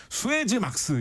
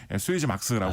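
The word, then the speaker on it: Suezmax: 그래서 이 수에즈 운하를 통과할 수 있는 최대 크기의 배를 수에즈 막스라고 합니다. 그럼 맥스란 느낌인가요? 그렇죠. 예, 그 뜻입니다. 근데 업계에서 왠지 수에즈 막스라고 많이 발음을 합니다.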